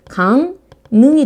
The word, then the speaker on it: 강릉: 발음 어떻게 하냐면요. 강능이 돼요. 되게 특이해.